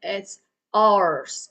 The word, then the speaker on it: hours: gonna be pronounced that it's hours. Okay, an hour, 2 hours, 4 hours. Okay, so pay attention, not hours. Okay, it's hours. Hours like oh, those books belongs. Those books are ours. Okay, similar.